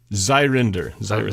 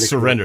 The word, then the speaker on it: Zyryndyr: Zyryndyr. So not quite surrender, it's Zyryndyr.